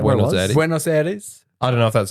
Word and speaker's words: Buenos Aires: Buenos Aires.